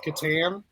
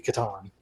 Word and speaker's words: Catan: The last game that I got completely obsessed with, board game style, was Settlers of Catan.